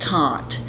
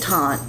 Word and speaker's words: Teint: So they were presenting this product that caught my attention, and it was called the Perfect, and I believe it's pronounced Teint, but it's spelled T-E-I-N-T 2.